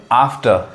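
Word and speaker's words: after: जैसे यहाँ पे देखिए आम, आम, आर्म लोग कहते हैं, लेकिन असल उच्चारण क्या है, र साइलेंट होता है, आम। यहाँ पे आफ्टर, आफ्टर सही है, लेकिन आफ्टर जनरली वॉवेल के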